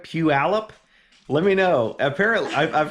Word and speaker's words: Puyallup: saying i'm wrong so it's not pu olip i'm pretty sure it's pew alepp pew allep we'll see let me